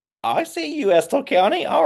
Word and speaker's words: Estill County: Estill County.